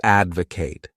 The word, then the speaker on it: advocate: The next wonderful verb is to advocate. This word has three syllables and the stress is on that first syllable.